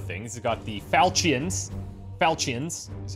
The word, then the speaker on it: Falchions: Falchions is how you say it.